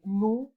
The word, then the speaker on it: nous: The combination of letters O and U is pronounced as OU, like in nous and vous, we and you. S is never pronounced at the end, and it denotes plural.